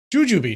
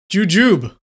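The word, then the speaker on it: jujube: this before actually huh Juju jujub oh totally wrong I was totally wrong is jujub I like that jujub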